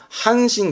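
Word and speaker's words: 阪神: 이거는요 쓸데가 거의 없습니다 지명이 많습니다 그래서 이거는 한신 그러거든요 들어보셨죠 한신 왜 그 저기 일본의 유명한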